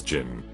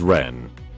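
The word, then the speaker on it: 人: In Japanese it's read as jin. In Chinese it's read as ren.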